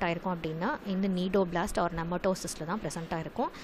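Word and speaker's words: cnidoblast: are stinging cells called need Oblast so in the see node of blast in particular Dada the C is silent so you have to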